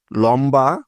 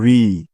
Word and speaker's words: ঋ: হলো দীর্ঘ উ অর্থাৎ লম্বা বা বড় উন্ড রস উ দীর্ঘ উ বুঝতে পেরেছ তারপরে আছে ঋ অনেকে আবার এই বর্ণটাকে বলে লি উচ্চারণটা কিন্তু সম্পূর্ণ ভুল সঠিক উচ্চারণটা হবে ঋ ঋ বয় শূন্য রয়